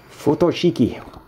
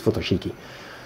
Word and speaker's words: Futoshiki: photo cheeky but I don't know you pronounce it I think it's photo cheeky and I think I'm